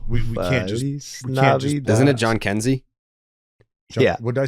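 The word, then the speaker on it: Jhonkensy: We do have to highlight Joenski Noel. Yeah, I mean we can't just. Isn't it John Kenzie?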